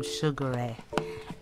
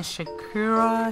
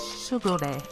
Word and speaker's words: Shigure: with an unboxing from Shigure. And I did email them to find out exactly how do you pronounce the store's name. Because I was saying Shakura, Shakur, Shakuri. It's Shigure. Shigure.